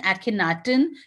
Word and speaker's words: Akhenaten: After Amenhotep III, his son Akhenaten, you can pronounce it like that because it's Egyptian pronunciation.